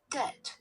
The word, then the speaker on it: debt: Artinya debt, debt, debt, debt, debt, debt, debt, ya. Kalau misalkan ayah itu pakai D, dad, d. Ini kalau T, dad, ya.